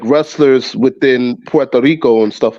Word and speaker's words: Puerto Rico: Usually people would say Puerto Rico. There's no O in Puerto Rico. No, that's why I appreciate that. It's Puerto Rico, right?